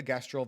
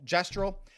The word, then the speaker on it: Gestral: Looks like we are going to the gestal village after all. Gester, I keep on pronouncing this incorrectly. Gestro. I'm pretty sure it's gestal.